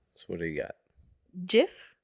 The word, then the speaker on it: Jif: Jif, not Jiffy.